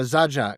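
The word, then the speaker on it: Zajac: Most of the singing, as I say, we've got Lisa O'Neal, we got Nadine Sha, we've got Oh, Iona Zajak, who you wouldn't have heard of, but you should be aware of.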